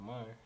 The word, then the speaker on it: Mahr: So my name is Mar. Now I is humble and calm. Is two separate words. Yeah. And MAR is spelled M A H R and it's really an acronym.